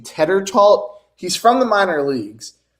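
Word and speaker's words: Tetreault: Teddertalt.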